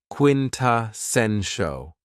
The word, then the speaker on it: quintessential: Another very cool adjective is quintessential and this word has four syllables and the stress is on the third syllable. Quintessential.